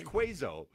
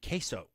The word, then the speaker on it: queso: all go together does isn't pronounced quazo no if you're not from Texas well I'm from Chicago how do you spell oh well isn't it qo yeah quazo quazo you think that spells quazo yeah I did qo